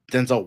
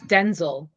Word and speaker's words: Denzel: Right, we've been pronouncing Denzel Washington's name wrong this whole time too. So there you go. Really? What? Yeah. Was it Denzel Washington? Like, no, it's Denzel. His name is Denzel.